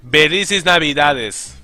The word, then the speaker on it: Felices Navidades: No Portuguese, and that's not how you say it. It's Felices Navidades.